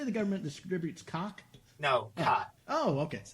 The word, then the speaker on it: qat: No, cot. Oh, okay. QAT, I think is how they say it.